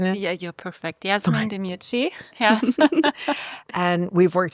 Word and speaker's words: Yasemin: Am I pronouncing it? Yeah, you're perfect. Yasemin Demirci.